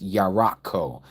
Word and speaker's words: Jericho: Cuz that's what Jericho was. Jericho is a moon city. The word Jericho is how we pronounce it, but it's yakco. Yarak in Hebrew is moon.